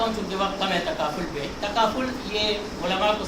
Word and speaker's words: تکافل: تو لغوی اعتبار سے، ورنہ عوام تو اس کا تلفظ بھی ابھی تک نہیں کر سکتے۔ پاکستانی عوام جو ہے بہت سارے کوئی اس کو تفاکل کہتے ہیں، تفاکل، اور کوئی پتہ